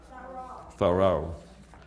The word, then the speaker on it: Thoreau: Thoreau.